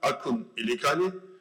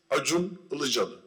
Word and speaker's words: Acun Ilıcalı: Yeah, if you put J instead of C for Turkish names, you would pronounce it good. So my name is not Akun Ilikali, my name is Acun Ilıcalı. So just change the C's with J in the spelling. Every C is spelled like J in Turkish, so everybody can pronounce